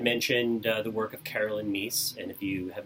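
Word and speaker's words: Myss: And he and I had a conversation, and he had mentioned the work of Carolyn Meese.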